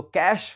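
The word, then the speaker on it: cache: यह वर्ड है कैश। इसका उच्चारण होगा कैश।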